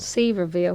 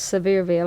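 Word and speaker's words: Sevierville: but it's actually pronounced sever Veil and I as I was telling you a good way to remember it is to think of something very severe like Dolly Parton no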